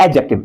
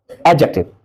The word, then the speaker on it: adjective: एडजेक्टिव D silent होता है। एडजेक्टिव।